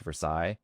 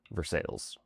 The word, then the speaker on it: Versailles: And while the French palace is pronounced Versailles, local residents quickly adapted their own pronunciation, Versailles.